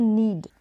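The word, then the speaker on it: knead: में बोलेंगे नीड नीड यहां पर प्रनंसीएशन है की जो है यहां पर साइलेंट है तो यह एक है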